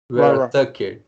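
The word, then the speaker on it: Vera-Tucker: o Elijah Vera Tucker, como diriam os americanos, não é Vera, é Vera Tucker, de USC, na cidade de South Carolina, South California, que é um bloqueador Santa também.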